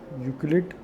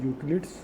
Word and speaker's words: Euclid: यूक्लिड, it is pronounced as Euclid's, okay, divisions lemma.